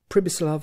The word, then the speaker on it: Pribislav: He with whom Hans Castorp spoke was called Hip, Pribislav Hip. The peculiarity of this given name was that you were to pronounce it as though it was spelt Sibislav, and the singularity of